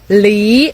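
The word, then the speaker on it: 梨: fruit peir so peir is pronounced as Lee in Chinese which literally means separate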